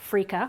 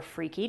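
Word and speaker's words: freekeh: is cracked green wheat it's also called freaka or freaky depending on how you like to pronounce it it's very similar to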